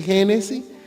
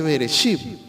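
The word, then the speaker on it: בראשית: En hebreo es Bereshit, no se dice Génesis, se dice Bereshit, ¿verdad?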